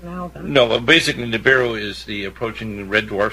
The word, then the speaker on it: Nibiru: Nibiru.